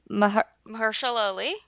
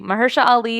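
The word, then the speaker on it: Mahershala Ali: that Mar how do we say his name Mah Mersa Ali thank You Maha Ali is in this briefly from Moonlight we love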